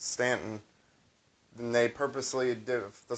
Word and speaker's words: Staunton: So if you like the city of Stanton in Virginia is spelled Staunton, but it's pronounced Stanton.